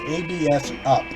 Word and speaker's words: ABS Up: But another good one, if you can find it, is what's called ABS Up. And I sort of pronounced it all as one syllable, so I pronounce it as abs.